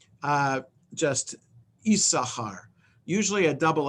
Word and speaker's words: Issachar: there in um but the second sin is not pronounced so it's not the yi sashkar because there's no vowel